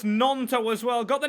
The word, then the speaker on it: Gnonto: I have been told it's Gnonto as well. Got the name wrong still.